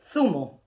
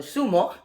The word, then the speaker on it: zumo: This is zumo, or as in Spain, they will say zumo. Okay, that is juiced. And in Latin America, we say jugo. Okay, zumo or sumo and jugo in Latin America.